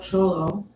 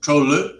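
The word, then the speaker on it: Trolö: Trollo? Yeah. The best way to spell it is T-R-O. Some people spell it D-R-O. It's in between the two.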